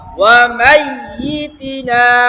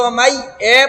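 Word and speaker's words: وَمَيِّتِنَا: লিহাইয়িনা, আরেকবার বলেন লিহাইয়িনা ওয়া মাইয়িতিনা, ওয়াও জবর ওয়া, মিম ইয়া জবর মাই, ইয়াজের ই, ওয়া মাইয়ি, তাসদীদ আছে তো, তাসদীদের উচ্চারণ ওয়া মাইয়ি। অনেকে ওয়া মাই এ পড়তেছে, এ না ই, ওয়া মাইয়ি, তাজের তি,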